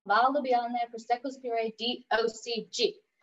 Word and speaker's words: Valdobbiadene: In Italy, you pronounce all of the letters. So to say it slowly, it's Conegliano Valdobbiadene. So Conegliano Valdobbiadene Prosecco Superiore DOCG.